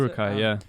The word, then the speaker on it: Uruk-hai: obviously created the Uruk-hai, or is that how you pronounce it? Uruk-hai, yeah.